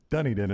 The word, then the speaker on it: Dunedin: be me I wonder how many uh Dunedin Dunedin is what Gary is saying so I apologize for getting the wrong pronunciation it's okay I remember us doing this